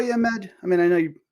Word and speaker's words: Ahmed: So for the audience, my name is Ahmed, by the way. So Ahmed. Sorry, I meant to pronounce it correctly. I said Ahmed. Yeah. I know the H is difficult, but Ahmad is okay.